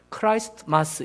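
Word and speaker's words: Christmas: 크리스마스. 근데 크리스마스가 영어로 우리말로 크리스마스지만 실제로는 영어로 표현하면 크라이스트마스 이렇게 하거든요.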